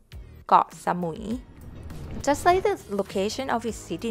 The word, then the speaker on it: สมุย: pronounced เกาะ สุย เกาะ สมุย หุย is Just One syllable So Don't Break it down หมุย สมุย เกาะ สมุย just the location of